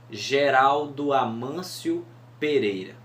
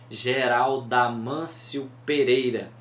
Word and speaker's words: Geraldo Amâncio Pereira: Agora, se a gente disser assim, Geraldo Amâncio Pereira, vocês viram que quando o O se juntam com o A no Geraldo Amâncio, termina Geralda, né?